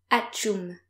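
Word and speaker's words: atchoum: And the noise that you're making when you're sneezing is achoum. So in English it's achou or something like that. In French it's achoum.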